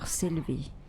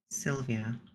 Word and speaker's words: Sylvie: a little bit difficult sometimes for people to pronounce it's all right it's Dr syv Sy but Sylvia no syv no a sorry there's something wrong